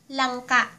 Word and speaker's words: langka: Oras na naman (Time again) ng ating (for our) Learn Tagalog pronunciation video. So ----- let's start with this photo. Jackfruit ----- Langka.